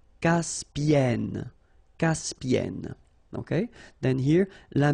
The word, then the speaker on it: Caspienne: Caspienne.